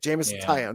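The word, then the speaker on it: Jameson Taillon: Jameson Tyone.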